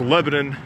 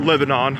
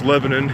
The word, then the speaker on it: Lebanon: around here call it keep in mind it's pronounced Lebanon not Lebanon like the country it's Lebanon you know people who live here in the